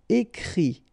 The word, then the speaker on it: écrit: And then the I-T, phonetically you pronounce I because final T is not pronounced, but still. Écrire, to write, écrit.